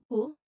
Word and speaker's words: who: So the pronunciation tip here, you should emphasize the clear H sound at the beginning. So who, that's the H sound, right? Like you are blowing out air. So and then you add oo sound, oo, and then you blend them naturally.